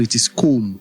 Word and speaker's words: comb: The letter B in the word comb is silent. So it is comb. It rhymes with home.